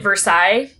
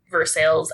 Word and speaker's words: Versailles: i drew the town i called it versailles like the treaty that is not how this town name was pronounced yeah it is definitely pronounced versailles oh locals so i will do my best to continue calling it verse sales and i will